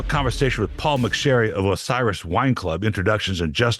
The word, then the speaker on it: Osiris: to Paul mcer of oseris white what I did I say it wrong again Osiris yeah Osiris welcome to the show